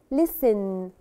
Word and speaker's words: listen: Listen. listen. وتاني هنا برضو مش بننطق letter T. It's silent.